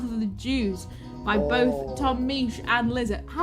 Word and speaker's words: Misch: cover of South of the Jews by both Tom Misch and Lizzo.